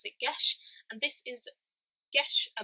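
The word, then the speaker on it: Geis: this one is pronounced yesh because it is a Gaelic word it says in the front that you pronounce it gesh and this is yes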